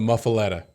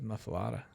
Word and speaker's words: muffuletta: The Muffuletta. That would be the Muffuletta. Muffuletta. Are you sure? How's it spelled? Well, it's spelled with an E, but everybody says Muffuletta.